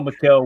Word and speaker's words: Mykel: Is it Mykel or Michael? How would y'all say that? M-Y-K-E-L. I would say Mykel. That's how I've always heard that name pronounced, but I've heard people.